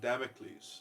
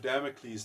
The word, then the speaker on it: Damocles: to you know um I said this name wrong because I'm so uneducated was it the sword of damic you know so is there's this there's the Sword of Damocles that gets further and